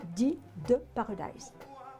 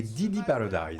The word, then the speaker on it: Didi Paradise: Et puis vous avez écrit après la suite, qui est Dee de Paradise. Bien prononcé aussi. Alors, je dirais plutôt Un éléphant dans une chaussette et Didi Paradise.